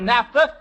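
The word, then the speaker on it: naphtha: I'll make that $5 for NAFTA. You already have $5 now. Now, I've spelled it for you correctly. You spell it for me for another three correctly.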